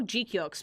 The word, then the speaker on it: GQuuuuux: you pronounce the show Guk by the way that is actually how you pronounce the name of the show.